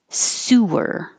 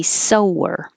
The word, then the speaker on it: sewer: an in ethnic ethnicity sewer with an ooh sewer is the underground wastewater you can spell it the exact same way and refer to somebody who is doing the action of sewing and it would be a sower i never learned how